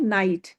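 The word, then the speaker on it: knight: नाइट की जो spelling है के एन आई जी एच टी है। लेकिन प्रोनन्सिएशन क्या है? नाइट।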